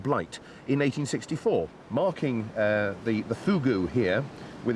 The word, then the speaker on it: fogou: This is Joe whose garden it is, whose fogou it is. No, fogou. I know it's spelt F-O-G-O-U, but it's pronounced fogou. Oh, really? It's all to do with the pursing of the lips, they tell me.